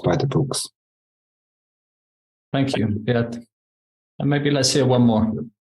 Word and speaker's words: Beat: My name is Beat. It's spelled beat, but I'm not beating.